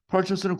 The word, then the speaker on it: purchase: 발음이 purchase입니다. 액센트가 앞에 있기 때문에. purchase는 구입하다고 procure는 국어의 구매하다의 뉘앙스예요.